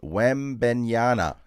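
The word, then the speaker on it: Wembanyama: Stewart says you're mispronouncing Wemby's name. Sound it out. Wembenyana.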